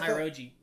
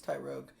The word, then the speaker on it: Tyrogue: Maybe it's just Mach Punch that he can learn because of Tyrogi. Hitmonchan... It's Tyrogue. Tyrogue, sorry. I don't know how to pronounce it.